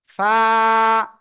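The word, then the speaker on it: ف: উপরে দুই দাঁতের সাথে নিচের ঠোঁটের পেট সামনের উপরের দুই দাঁতের আগার সাথে লাগিয়ে এক আলিফ টানিয়া হালকা বাতাস বের করিয়া উচ্চারণ করিতে হবে ঠিক আছে ফা ফা হালকা বাতাস বের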